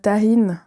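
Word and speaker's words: Tajín: Avec ma cousine Marilyn, on a vu pendant longtemps ces épices tahine. Pas marocain, mais mexicain. Pas tagine du Maghreb, okay. Mais ça s'écrit T-A-J-I-N.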